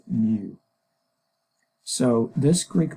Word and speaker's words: mu: It's spelled mu and pronounced mu.